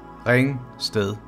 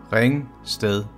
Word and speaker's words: Ringsted: And the last word, ringsted, ringsted, ringsted, ringsted. Ringe and ringsted are towns in Denmark. So let's do the whole sentence again. Ringeren i ringe, ringer, ringer, en ringeren, ringer i ringsted.